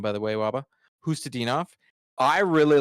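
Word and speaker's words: Khusnutdinov: Hustadinov.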